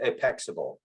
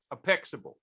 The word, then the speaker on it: Apexable: So I pronounce it Apexable. Apexable. Okay. So it's spelled Apex-able. Able.